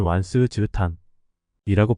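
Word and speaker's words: 晚時之歎: 만시지 탄이라 말이 있습니다 중국어로는 완스 지탄이라고 발음합니다 때가 너무 늦어 그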